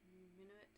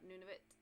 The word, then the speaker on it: Nunavut: Nunavut.